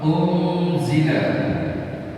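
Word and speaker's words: أُنْزِلَ: Kalau ausat pertengahan antara n dan n. Jadi antara n dan n. Ini cara bacanya. Contoh, unzila.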